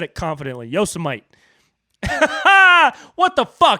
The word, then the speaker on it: Yosemite: you guys hear uh trump trying to pronounce yosemite he said yosamite come on dude come on man like bro how do you not know how to pronounce yosemite dude any kid 10